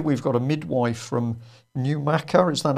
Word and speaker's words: Newmarket: to trust, here we've got a midwife from Newmarket. Is that how you pronounce it? Well done. Yes, Newmarket.